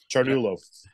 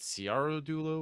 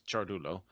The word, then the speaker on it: Ciardullo: it you did yeah chartulo yeah yeah apparently it's like Italian or something it is Italian yeah CIA in Italian is pronounced with the CH yeah that's so weird